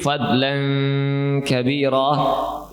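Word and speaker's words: فضلا كبيرا: Bunyi ghunnah pada huruf alif dalam "fadlan kabiro", jangan lupa diucapkan dari lubang hidung ( khaisyum), bukan dari mulut.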